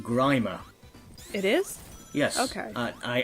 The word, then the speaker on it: Grimer: Not his regular, not Grimmer, but No. somebody else from STC. Actually, it's pronounced Grimer.